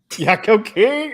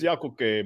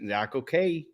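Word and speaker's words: Yakoke: Yakko King? Oh my god, no. Hey, they butchered both of my languages right there. Casita. Oh man. I mean, it's Yakuke, but Yeah.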